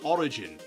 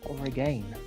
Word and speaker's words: Oregon: Is it Oregon or Origin? Oregon. Right. Just my very Scottish way of saying it. It's I think it's pronounced Oregon.